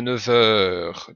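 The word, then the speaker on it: neuf heures: un élève courageux à 9h donc on a un f mais qui se prononce V à à cause de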